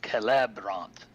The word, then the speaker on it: Celebrant: But whenever you add that next R to it, it changes the stressed syllable. So Caleb becomes Celebrant.